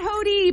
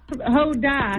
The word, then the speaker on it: Hoda: Not Hody, but my last name's. Hoda. Yes. Hoda.